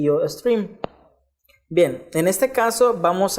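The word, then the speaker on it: iostream: stream es 3 am así se escribe yo estrella y se menciona y se dice y yo stream bien en este caso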